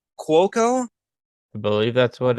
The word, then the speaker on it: Cuoco: Oh God, I'm gonna butcher the pronunciation of her last name. Cuoco.